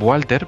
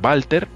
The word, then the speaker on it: Walter: expedición que se llamaba Walter bonatti otros dirían Walter pero aquí en Italia Cuando alguien cuando a un niño le ponen Walter se pronuncia Walter Y entonces Bueno pues va alternati que entonces